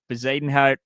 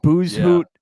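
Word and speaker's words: Bezuidenhout: Jude, where the guy's pronouncing Bezadenhout like booze hoot, and they're talking about Max Homa.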